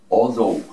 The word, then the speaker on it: although: La pronunciación, oh, Although. ¿Cómo así? O, y aquí hacemos pronunciación TH, recuerden, la lengua a la mitad de los dientes.